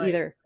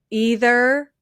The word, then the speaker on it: either: Um so the word ei h e r can be pronounced one of two, you know, it can be two ways. It can be either either or either.